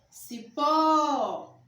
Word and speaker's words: cipó: Outra palavra, cipó. A sílaba tônica é ó.